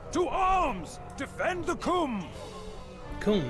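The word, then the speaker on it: Coomb: Kum, that's how you say it.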